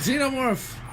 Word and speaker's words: xenomorph: It's pronounced xenomorph. Stop pronouncing it wrong.